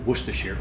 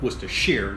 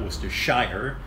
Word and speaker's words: Worcestershire: And that is how you pronounce it, Worcestershire. So it's like the city of Worcester.